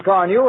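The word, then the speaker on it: Carnu: Why don't you buy a can of Johnson's Car New and wax polish your car this easy way? Here's how it's spelled.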